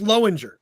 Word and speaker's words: Lowinger: So half the family says, how do you say C-O-W? Well, that's cow. That's the Lowinger side of my family. And then there's the, well, how do you say L-O-W, asshole? It's like low.